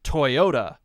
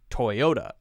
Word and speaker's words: Toyota: the example of Toyota so Americans say Toyota Toyota Toyota that's how we say the brand but that's not quite how its said in in Japan and it's a Japanese company so you could say